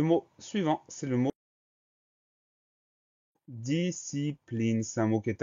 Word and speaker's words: discipline: Deuxième syllabe, si, le son S va s'écrire avec un S suivi d'un C. Donc il est là le piège, le son S s'écrit S-C comme dans piscine, entre autres.